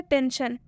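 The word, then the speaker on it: tension: पहला एग्जाम्पल क्या है, टेंशन, टेंशन में एस है, एस के बाद से आई ओ एन आया हुआ है, तो इस आई का उच्चारण किससे किया जा रहा है, अ से, यानी कि टी ई एन के लिए क्या यूज़ हो रहा है यहाँ पर, ट और ऊपर न।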